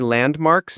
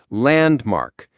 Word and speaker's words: landmark: Landmark. The stress is on the first syllable.